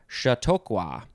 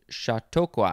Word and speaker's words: Chautauqua: is our last word it is shatokwa shatokwa i want to make sure i pronounce it correctly it is spelled u